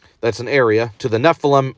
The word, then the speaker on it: Nephilim: Okay, so the Nephilim, it rhymes with Bethlehem.